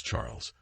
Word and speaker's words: Charles: dear husband she replied Charles pronounced the French way as Charles struck me as your